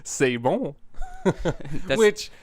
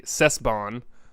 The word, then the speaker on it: C'est bon: which is spelled Cesbon. So like if you didn't know how to pronounce it, it'd be Cesbon. Cesbon. Cesbon. So I'd probably pronounce it. Cesbon. but it's really a c'est bon.